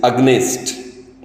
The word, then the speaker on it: against: Similarly, half the people in Andhra say A-G-A-I-N-S-T, against. That is definitely wrong. I won't accept it. The correct pronunciation is against. It's not against.